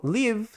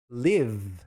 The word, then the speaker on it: live: Então, live, apesar de ter esse e aqui no final, a gente vai falar só v, live.